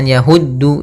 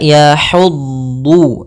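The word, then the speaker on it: يحض: panjangkan dua harakat yahu di sini ha kecil jangan yahuddu jangan ha besar kalau H besar dia salah ha hi hu maka yahudu nah kemudian sini dad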